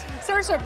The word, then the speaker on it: Saoirse: That was perfectly pronounced on both ends, right? Perfect. Saoirse, people don't always get the name right, do they?